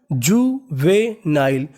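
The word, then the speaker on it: juvenile: English में कहीं पर एन आई एल ई लिखा मिले तो उसका उच्चारण करना है नाइल तो मीनिंग बनी जुवेनाइल जुवेनाइल जुवेनाइल जुवेनाइल का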